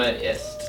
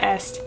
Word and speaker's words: ist: Mein Name ist. My Name ist. Ist, not est.